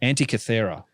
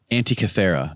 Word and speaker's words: Antikythera: Antikythera. Antikythera mechanism.